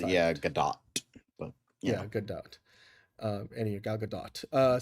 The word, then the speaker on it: Gadot: Yeah, last pronounces Gal Gadot pronounces it Gadot. She pronounces it Gadot.